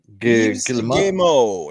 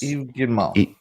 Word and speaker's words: Yves Guillemot: Yves Guillemot. Guillemot. Yes, that's how you pronounce it. Yes. Yves Guillemot.